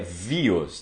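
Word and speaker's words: βίος: E ele chama esses diferentes aspectos da vida de bios, né? No grego, a pronúncia é bios, né? O som de a letra B, ela tem o som de V, tá certo?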